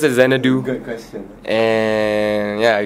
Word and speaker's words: Xanadoo: I pronounce it Xanadoo.